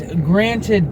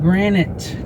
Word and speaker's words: granted: It's granted, not granite. Granite is a rock.